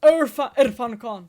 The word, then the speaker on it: Irfan Khan: What do you think about Irfan Khan? Have you watched many of his movies? Yeah. Is how you say his name? Sorry if I'm I butchering think it his is Irfan Khan. Irfan Khan.